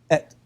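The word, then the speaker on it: את: It's et. Right? It's not even pronounced in the sentence.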